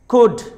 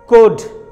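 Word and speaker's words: could: और ऐसे ही अगर लेटर एल से पहले ओ और यू आ जाए तो लेटर एल साइलेंट होता है. जैसे ये एग्जाम्पल देखिए, कुड, कुड. वुड, शुड.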